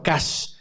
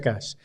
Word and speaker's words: cache: meter a cacheo a casa que en realidad se pronuncia Cash lo voy a meter